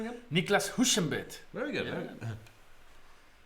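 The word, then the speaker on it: Niclas Huschenbeth: How do you pronounce his name again? Niklas Huschenbeet.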